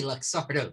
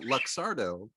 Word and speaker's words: Luxardo: You say Luxardo. That's exactly how you say it. You pronounce.